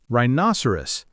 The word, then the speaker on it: rhinoceros: Rhinoceros. That H after R is silent.